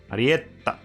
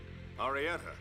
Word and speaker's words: Arietta: How they pronounce her name in Japanese. Arietta. Yeah, they probably hold the T a little bit.